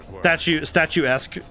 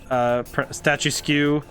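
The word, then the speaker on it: statuesque: we get Reader's Digest statue-esque, statue skew, pronounced statue skew. Yeah, I see. Yeah, I didn't see the S. I thought it said statue-esque, not statue skew.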